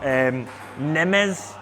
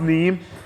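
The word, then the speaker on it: Nîmes: Nimes. Yeah. Angers. I think it's pronounced Neem.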